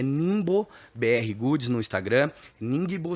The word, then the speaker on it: Ningbo: Ningbo se escreve N i N GB O Ningbo, BRgoods.